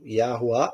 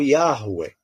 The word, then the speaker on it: Yahweh: Yahuwah ou Yahweh. São as duas pronúncias mais aproximadas.